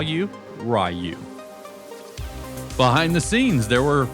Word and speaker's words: Ryu: I had done some research and believed the Japanese pronunciation to be Ryu, like free with a silent F and U.